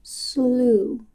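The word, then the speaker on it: Sluagh: According to my Google search, this next one is pronounced slooh, but it's pronounced s l u a g h.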